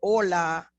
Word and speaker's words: hola: However, when I see this letter, my brain knows that this sound is silent, and that's why I say hola, and I don't pronounce that H.